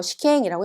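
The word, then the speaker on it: 試験: 시켄이라고 했잖아요. 험이란 아이는 음으로 읽을 때 캔이라고 읽어줍니다.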